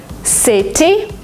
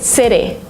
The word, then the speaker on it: city: In American English, if you have a letter T in the middle of a word, sometimes you pronounce it as D. Letter letter letter because it's faster because it's smoother. City, you don't say it.